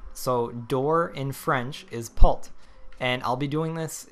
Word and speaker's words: porte: door equal and uh what door is in french is pult that's p-o-r-t-e um you don't really pronounce the e at the end uh so it's pult so door in french